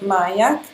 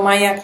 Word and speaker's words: Myak: It's called Myak, and you spell that M-Y-A-K.